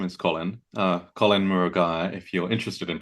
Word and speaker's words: Murugiah: Uh Colin Murugiah, if you're interested in pronouncing my surname.